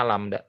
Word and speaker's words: lambda: Nah ini namanya lambda, dibacanya lambda.